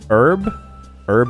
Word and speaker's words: herb: Herb and spices. I don't think I said the H, okay.